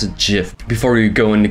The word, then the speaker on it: GIF: saw jiff where these are thieves yes I pronounce a jiff before you go in the comments and say it's pronounced gif get out get out um so catapults means